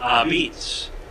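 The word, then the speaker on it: apizza: Yeah, they are actually an homage to New Haven, because in New Haven you would pronounce the word A-P-I-Z-Z-A, beets.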